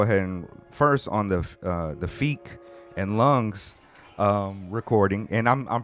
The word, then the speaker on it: Phiik: And you were like, yo, it's Phiik. You said it with such confidence. I swear I heard him pronounce it like that on the album, him or Lungs.